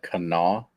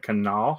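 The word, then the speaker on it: Kanawha: tomorrow was that at Canal that is at Canal State Forest not Cana it is at Canal State Forest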